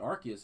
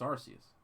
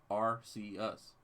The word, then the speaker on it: Arceus: seem to call it Arceus, and that's not how it's pronounced. It's actually pronounced Arceus. Arceus. Even though the word arc is in there, that's not how we say.